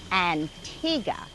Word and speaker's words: Antigua: After a beautiful flight on Biwi, we arrived here on this paradise island of Antigua. And be careful to pronounce it, Antigua.